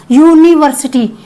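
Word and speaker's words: university: अब यह देखिए गाइज़ यूनिवर्सिटी का प्रोनंसिएशन क्या है? मतलब उच्चारण इसका क्या है? यूनिवर्सिटी। यूनिवर्सिटी तो क्या कहां से शुरू हो रही है? स्पेलिंग कहां से शुरू हो रही है? यू से शुरू हो रही है। पर लेकिन अक्षर कौन सा है? अक्षर कौन सा है? देखिए। यू यून यूनिवर्सिटी अब ये मैं समझा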